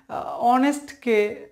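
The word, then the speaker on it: honest: কিন্তু আপনি যদি রিয়েল উচ্চারণ করেন, রিয়েল উচ্চারণ হচ্ছে কি অনেস্ট, তাহলে কি হচ্ছে এখানে এইচ থেকে উচ্চারণ না হয়ে ও থেকে উচ্চারণ হচ্ছে, আর ও ডিরেক্টলি চোখে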